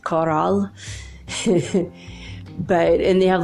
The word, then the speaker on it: Corral: But not like a corral for cows, but a coral, like a coral in the sea, like the sea plant coral. But in Spanish it's pronounced coral.